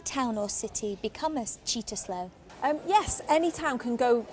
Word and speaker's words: Cittaslow: Oh, is it true that Mould has sitter slow status? It's pronounced cheetah slow.